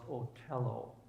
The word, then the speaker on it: Othello: They put on the play Othello. In German, it would be pronounced Otello.